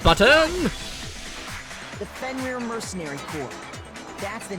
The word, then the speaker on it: Fenrir: Also, here I thought it was like Fenrir. No, it's Fenrir. It's rear.